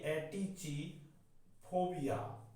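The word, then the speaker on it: atychiphobia: ATY, एटीची, फोबिया, फोबिया। ये होता है एटेची फोबिया, एटेची फोबिया ऐसे बोलते हैं, एटची, एटची फोबिया, एटची फोबिया। इसका प्रोनाउंसिएशन है ये।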